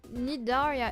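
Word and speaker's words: Cnidaria: The sea and nidi is silent. Nidaria is the phylm of marin and vertebrates that include jellyfish and sea animals.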